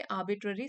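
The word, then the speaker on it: arbitrary: True fulfilment arises not from meeting आर्बिट्ररी standards, are silent है यहाँ पे, आर्बिट्ररी standards.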